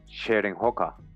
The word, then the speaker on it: Cheroenhaka: They have been back 4-5 times since February, and when the descendants of the Cheroenhaka, pronounced Cheroenhoka, held the first tribal